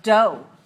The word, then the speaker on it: dough: with some sort of dough dough what is dough dough d-o-u-g-h the GH is silent what is this word